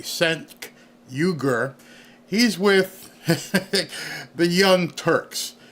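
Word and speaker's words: Cenk Uygur: who this guy is let me pronounce his name correctly sen yuger he's with The Young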